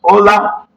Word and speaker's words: hola: Remember, in our alphabet, whenever you see H in Spanish, is not pronounced. So this simply means it's pronounced as hola, which means hi, hello, hi, that's it.